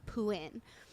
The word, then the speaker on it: Phuwin: it's spelled in Thai there's a t and a silent r at the end of his name um but because of